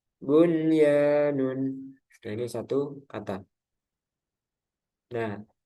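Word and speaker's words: بنيان: Tidak berlaku hukum idgham bi gunnah pada 4 kata berikut ini, yaitu ad-dunya, sinwanun, qinwanun, bunyanun. Para ulama sepakat untuk membacanya secara jelas atau idhar karena masih dalam satu kata dan mereka menamakannya idhar mutlak. Ada yang menamakan juga idhar wajib.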